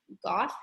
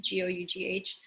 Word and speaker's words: Gough: Right now, I'm reading a Canadian author named Laurie, Laurie, Laurie Gough, it rhymes with cough, I think, Gough, and she's a travel writer, and wow, my mind is blown.